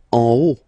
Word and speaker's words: haut: En haut. En haut. Okay, final T not pronounced, and then this H as previously, you don't pronounce it, so this is haut.